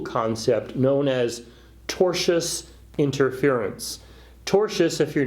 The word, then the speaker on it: tortious: about a legal concept known as tortious interference tortious if you're not familiar with the word is spelled t o r TI o us and